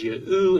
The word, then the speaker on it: Yahu: The names in these texts demonstrate that the Tetragrammaton would have been pronounced as Yahu in Aramaic.